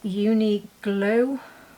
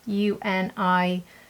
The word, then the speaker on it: Uniqlo: But this brand I think you can get everywhere, and that is Uniglow, or spelt with a Q, this brand. I'm sure you've heard of them. Uniqlo.